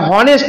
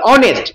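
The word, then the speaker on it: honest: a beautiful dress beautiful consonant sound his এটা হনেস্ট নয় অনেস্ট তাহলে ও হচ্ছে ভাওয়েল সাউন্ড সেজন্য এন বসবে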